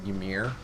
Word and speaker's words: Ymir: There's so many people pronounce it different ways. I always I pronounce the Y a little bit, and I just go Ymir.